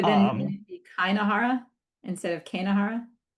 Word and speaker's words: keinehora: Wait, so but then Um, wouldn't it be Kainahara instead of Kanahara? Kinahora.